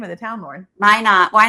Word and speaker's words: Minot: I can't even pronounce the name of the town, Lauren. Minot.